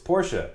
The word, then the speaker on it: Porsche: It's Porsche.